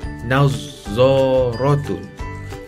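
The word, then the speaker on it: نظارة: Bila ditulis hanya satu za, tetapi ada tambahan simbol sabdu, menjadikan kita membacanya dengan bunyi nazzaratun.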